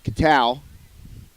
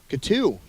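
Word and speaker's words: Cattau: Katow? Katu. Katu. Oh, my bad. Been saying it wrong all day.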